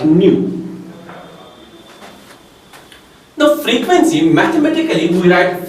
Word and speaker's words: nu: Another term we define as frequency, and this frequency is denoted by nu. It's a Greek symbol. We pronounce it like nu.